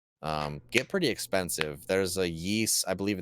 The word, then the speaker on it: Ys: So the Yeast. Is that how you pronounce it? Yeah, as far as I know, Yeast. Yeah, it's spelled YS, right?